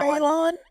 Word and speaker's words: Bailon: you get it and for the English speaking people that can never pronounce my last name when I would go on shows or even now baon they would say Balon and I would tell them you buy it you loan it buy loan literally which